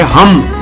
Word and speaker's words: हम: तो जब आपने श्वास ली स्वाभाविक रूप से जब आपने स्वास ली तब आपको एक बीज मंत्र का उच्चारण करना है। वो है हम एच यू एम हम आपने पूरी सांस ली